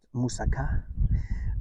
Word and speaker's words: moussaka: Most people probably know moussaka, which is actually pronounced moussaka.